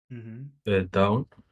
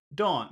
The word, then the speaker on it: dawn: that word uh SRO down Dawn not down not down but Dawn Dawn well we better let's